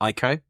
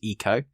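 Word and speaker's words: Ico: One of which is Ieko. I know the correct pronunciation is Eco from Team Eeko.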